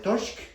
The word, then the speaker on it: torsk: Here in Norway we call it torsk, and it rhymes with norsk, which is Norwegian, which is funny.